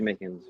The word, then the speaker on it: Mickens: RJ Mickens. Yeah, it rhymes with Tarjay Chickens, you know?